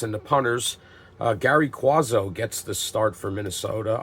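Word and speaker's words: Cuozzo: the punters uh Gary quazo gets the start for Minnesota I hear that pronounced uh watching NFL films I've heard it pronounced quazo I've heard it pronounced kuzo I'm going with quazo on that he's getting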